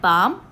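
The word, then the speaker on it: balm: एल is silent silk बाम इन the word बाम एल is silent we will circle this word plum shelf so we have seen a few words जहां पे L silent होता है।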